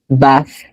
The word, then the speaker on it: bath: Bath. It's not F. It's not F. It's not an F.